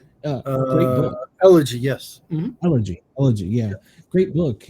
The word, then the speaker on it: Elegy: His book, Hillbilly Effigy, I think is how it's pronounced. Great book. Elegy, yes.